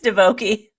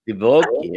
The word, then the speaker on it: Divoky: no, there's no S. It's Divoky. Divoky.